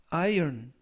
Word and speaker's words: iron: 이번 표현은 iron, iron, iron 이라고 발음하시면 되겠고요. 이때 iron이 아니라 iron 이라고 발음하시면 되겠습니다. 품사는 명사, 뜻은 철 또는 쇠, 라는 뜻을 가지고 있고요.